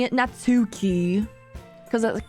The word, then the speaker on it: Natsuki: what do you mean the U isn't pronounced natsuki is pronounced as natski I don't care I'm